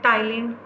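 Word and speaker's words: ptyalin: Saliva के अंदर 3 चीज़ें हैं, म्यूकस है, वाटर है और उसके अंदर एक एंजाइम है, टाइलिन कहते हैं, टाइलिन, पी साइलेंट है इसमें, TYALIN, और इसको कहते हैं सेलिवरी अमाइलेज, क्योंकि सलाइवा से निकला ना, सेलिवरी अमाइलेज कहते हैं।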